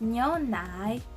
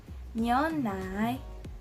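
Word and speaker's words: 牛奶: So the pronunciation, because it has the second tone, we're gonna sound like we're asking a question again.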